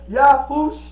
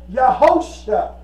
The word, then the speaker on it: Yahusha: And Joshua sounds Hebraic for the most part, but if you pronounce it correctly, it is Yahusha. Mm-hmm. Some brothers say Yahosha, right? But it's Yahusha is what it is.